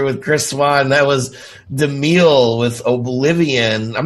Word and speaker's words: DeMille: DeMille.